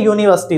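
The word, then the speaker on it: university: करेंगे क्यों यूज करेंगे उसका प्रोनाउंस देखिएगा अगर हम उसको पढ़ते हैं यूनिवर्सिटी क्या पढ़ते हैं यूनिवर्सिटी तो यूनिवर्सिटी मतलब यू की आवाज दे रहा है ठीक है ऐसे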